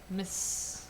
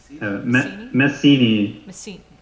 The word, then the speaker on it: Messini: Messini. Messini. Messini. I'm Messini. trying to think of something that rhymes with, but I can't. Vizzini. Linguini. Messini. Yeah, linguini. It does rhyme.